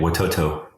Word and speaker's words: Watoto: do you say it you got it right watoto okay and watoto could you could you just tell everybody something